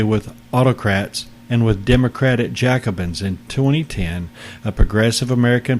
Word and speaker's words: Jacobin: Barry Goldwater as Cactus Jacobin or Jacobin is probably a better pronunciation of it in their effort to